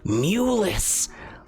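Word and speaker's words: Mulus: looks around he goes my name is Lord muus Lord muus it is a pleasure and an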